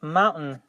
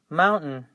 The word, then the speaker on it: mountain: part so we say mountain and you have to pronounce the n the t and the n all together so practice that the